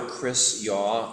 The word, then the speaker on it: Chris Yaw: title yep yep welcome everybody I am father Chris yaw or to spell it for you um the very Reverend CH